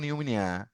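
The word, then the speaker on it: pneumonia: যেমন ধরো ওই যে নিউমোনিয়া বানান করো তুমি, নিউমোনিয়া পূর্বে একটা পি দেয়া লাগে না? জি স্যার জি স্যার স্পোকেন ল্যাঙ্গুয়েজে কও নিউমোনিয়া, আর রিটেন ল্যাঙ্গুয়েজে তো পি নিউমোনিয়া কও, তাই না?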